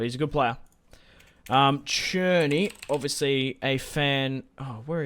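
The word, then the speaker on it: Szczęsny: something insane but he's a good player um churny obviously a fan oh where is churny it's it's not spelled like it's pronounced churny but it's spelled like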